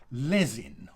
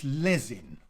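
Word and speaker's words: Lezyne: things like that and this one is uh pronounced lesin all right so if you have uh again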